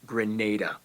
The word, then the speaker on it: Grenada: Ado let's get into the video foreign it's pronounced Grenada geography well we've reached our seventh Caribbean